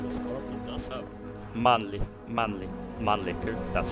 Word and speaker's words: Mannlicher: It does have Mannlicher, that's how we pronounce it, rifles, and a Danish Madsen machine gun.